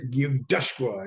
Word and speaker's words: yusa: remember him telling me he says got say yusa it's gutural how you pronounce their name I said okay but